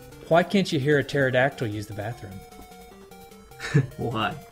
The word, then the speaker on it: pterodactyl: Why can't you hear a pterodactyl use the bathroom? Why? Because the P is silent.